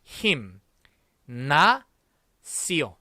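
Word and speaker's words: gimnasio: 요 앞에 있는 거 김, 짐 아니고 힘, 나, 시오.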